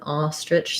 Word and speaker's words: ostrich: sound um ostrich um the str blend may give you some challenges in which case you can try just saying the word rich and then build from that rich tritch stretch ostrich also what might be hard is that that all of that all of these sounds this and ch sounds are all pretty short because that's that syllable is not stressed and the ah syllable is a lot longer um thank you that's